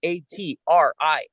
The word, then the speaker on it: Atria: That's Atria. Atria. They told me how to pronounce their name.